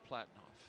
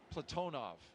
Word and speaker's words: Platonov: Our crew today, commander Zena Cardman, pilot Michael Frink, Jackson astronaut Kimmy Aayoui, and Ross Cosmos cosminaut Alleg Platinoff Platonov. I corrected my pronunciation yesterday and I slipped back into crew walk out has commenced on schedule.